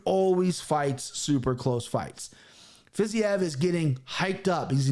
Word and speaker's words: Fiziev: Fiziev. Javier Fiziev is, and I can pronounce the next one, Bobby Green.